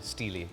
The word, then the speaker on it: Steele: wait your name is steel I thought it was Steely actually everybody's been pronouncing it wrong all these years it is Steely Steely wow there